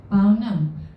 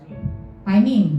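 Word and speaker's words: פנים: Dalam bahasa Ibrani, hadirat ini pronunciation-nya adalah paunem. Bener nggak, Tim? Kalau salah tolong dikoreksi. Artinya asal kata hadirat ini dalam bahasa Ibrani, berarti perjanjian lama ya. Panim. Oh, bacanya panim.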